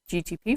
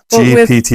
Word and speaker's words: GPT: great that you can ask chat GT GTP for an example GPT GPT you say it wrong 90 almost every time see because my mind isn't good with those details I know GPT it's not Grand Turismo